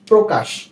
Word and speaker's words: প্রকাশ: ও কারণে হয়ে থাকে কি বললাম যখন কোন শব্দের প্রথম বর্ণের সাথে বা প্রথম ব্যঞ্জন বর্ণের সাথে সাথে র ফলা যুক্ত হয় তখন সেই বর্ণটির উচ্চারণ হয় ও কারণে অর্থাৎ এই যে শব্দ